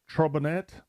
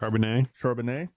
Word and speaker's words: Charbonnet: Okay, my number 6, Addison, Charbonnet, which I didn't pronounce that correct. Charbonnet.